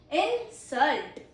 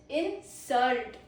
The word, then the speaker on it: insult: First pronunciation is insult.